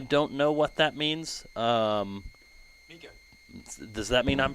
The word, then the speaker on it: Mika: Mika. Does that mean I'm pronouncing it right? I would guess that you are pronouncing it. I heard her say it, Mika, herself, at Crown King when we checked in with her yesterday.